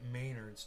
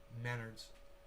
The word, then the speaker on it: Menards: donald trump and john maynard i work at maynards trump and maynard used to sue each other just google those dudes together and it's pronounced menards oh menards really not important though yeah it's